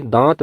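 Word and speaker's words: दाँत: पर शुद्ध रूप है इसी प्रकार से अगला शब्द है दांत दांत यहां पर अशुद्ध प्रयोग है क्योंकि यहां पर अनुस्वार का प्रयोग हुआ है जबकि दांत में अनुनासिक का प्रयोग हुआ है इसलिए यह शुद्ध रूप में है अगला शब्द है मुह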